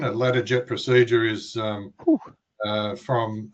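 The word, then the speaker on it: Latarjet: It's uh and correct me if my pronunciation is is not great here, a uh letter jet procedure to stabilize the joint and comes with a 4 month recovery.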